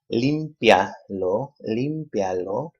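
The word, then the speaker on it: límpialo: Limpialo, 3 syllables. So we say lo, limpia. Emphasis is on the third to the last syllable, which is this one right here, the limpia.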